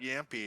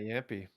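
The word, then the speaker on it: Jamppi: You got Yampy. I've noticed that in the broadcast, a lot of people are leaning towards Yumpy. Yeah, the finish, because like yeah, they're trying to do the Finnish pronunciation justice.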